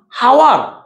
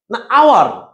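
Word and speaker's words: hour: যদি এই শব্দটা বলি যে বলতো এই শব্দটার উচ্চারণ কি এ ইউ আর এটা কি হাওয়ার আওয়ার এটা আওয়ার আলে কোন শব্দ বলতে গেলে শব্দের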